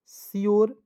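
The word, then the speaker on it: sure: के रूप में प्योर एस यू आर ई तो क्या पढ़ेंगे सियोर ठीक है उसके बाद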